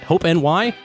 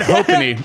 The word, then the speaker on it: Hope NY: Hope NY. Brandon just said hopony, not hope New York.